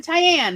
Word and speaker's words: Tyann: I go by like, hello, I'm Tyann. Rhymes with Diane, but with a T.